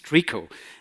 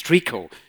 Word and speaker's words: Trico: because i forgot online we said it's trico and it's it's so easy it's so the easel sprinkle so easy you have to think of trees 2e but in german